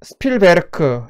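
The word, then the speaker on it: Spielberg: 뒤쪽에 어 버그는요. 독일어 식으로 발음을 하면 베르크라고 발음하거든요.이 베르크가 무슨 뜻이냐면 산이란는 뜻이에요. 그래서 스필버 스필베르크 이것은 놀이동산 또는 산에서 놀다 이런 뜻이 되겠죠. 근데 이제 영어식으로 발음하면 이제 스필 베르크가 스필버그로 되는 거죠.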